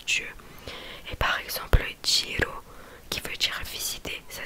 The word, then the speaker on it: giro: Et par exemple Giro, qui veut dire visiter, ça s'écrit G-I-R-O.